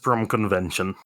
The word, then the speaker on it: Bromkonvention: That one's pretty easy to pronounce there, DJ. It is literally just Bromkonvention.